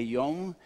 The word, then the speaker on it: Yom: So just as a reminder, it's a long O for all the Yom. When we say Yom in Hebrew, it means day.